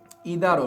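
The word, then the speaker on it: either: ক্ষেত্রে আমি একটু বলি আমরা অনেক সময় ইদার যেটাকে আমরা আইদার অরও বলি উচ্চারণটা আরো আছে হচ্ছে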